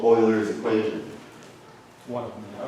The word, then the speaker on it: Euler: Euler. In Europe they say Euler. Huh? It's Swiss. It's just they have a word pronunciation.